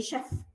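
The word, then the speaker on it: chef: كلمه شيف كلمه ايطالي، احنا عندنا انجلش كوك طباخ، فاحنا مش بنقولها شيف زي ما احنا عارفين، لان السي اتش عندنا بتنطق تش، فهي دي كلمه جايه من بره فمالناش دعوه بيها، هي احنا ناخدها من دولتها بنطقها. اوكي فالسي لي نطق ايه؟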